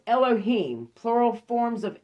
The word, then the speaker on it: Elohim: l okay genesis 1 1-3 mark 13 19 pronounced elohim plural forms of l this name is usually